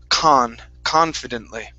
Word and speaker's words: confidently: here the word is confidently okay stressed at the very beginning confidently confidently okay very nice